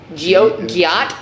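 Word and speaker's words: Giott: Guillot.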